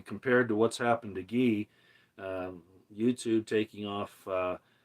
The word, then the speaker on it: Guy: Twitter it's spelled uh it's like guy but it's pronounced ghee in French he's French Canadian and